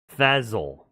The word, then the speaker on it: Fezzle: Fazzle, Fazzle. like Spell. fizzle, but instead of an I, it's an E.